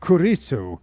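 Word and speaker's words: クリス: Chris is pronounced Kurisu when translated into Japanese.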